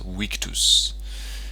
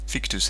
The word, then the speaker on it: victus: Oh, by the way, if you're doing proper Latin, proper ancient Latin pronunciation, a V is pronounced as a W. So, it's a weakus and witrius probably sounds a bit weird. Victus and vitrius is fine, you know.